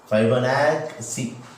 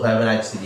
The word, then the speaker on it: Fibonacci: Fibonacci. One C is pronounced as K, and another one is yes, like that.